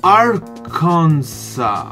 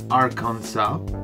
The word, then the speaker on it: Arkansas: reasona I see one of my favorite beverages our Kansai I know that it's pronounced Arkansas and that's all I know about it and